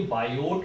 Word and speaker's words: Biot: वैसे ये बायो नहीं, ये बायोट होता है। इसमें यहाँ जो टी होता है वो क्या रखा जाता है?